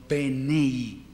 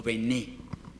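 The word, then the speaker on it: בני: Y esto es, fíjense que ahí no dice Banim, sino Benei o Bené. Algunos lo pronunciarán así, Benei, otros Bené.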